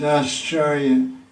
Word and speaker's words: Ascharya: No, it sounds like the word astonishment in English. It's Ascharya.